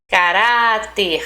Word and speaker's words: caráter: Caráter, ra.